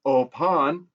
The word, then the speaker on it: open: playing so you know open in Dutch is a little bit different in its pronunciation opon very similar but not just enough different where you might not